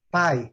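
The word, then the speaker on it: pie: Pai, a pronúncia, gente, é bem clássica, tá? Pai. Ó, pai. É pai mesmo. Pai.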